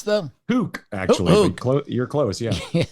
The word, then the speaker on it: toque: Is that how you pronounce the? Toque, actually.